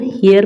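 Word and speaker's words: heir: पे एन लगेगा क्योंकि इसको हम हियर पढ़ते हैं। एच को साइलेंट रखते हैं। एच को पढ़ा नहीं जाता है।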